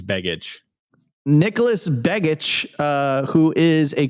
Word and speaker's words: Begich: Yeah, I think it's Begich.